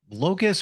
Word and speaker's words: locus: It sounds like locust, like the little insect.